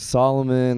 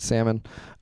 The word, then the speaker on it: Solomon: My name is Solomon. They call me the solo soul man. Do not pronounce it salmon.